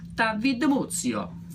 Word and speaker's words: DiMuzio: In Italian, my name is DiMuzio. That's how they say my name.